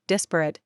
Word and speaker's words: disparate: Its adjective, disparate, accented on the first syllable, is often used to emphasize strong differences.